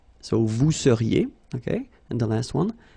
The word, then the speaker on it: vous seriez: So here when you've got this Z at the end, then you get the sound et seriez. So vous seriez, okay?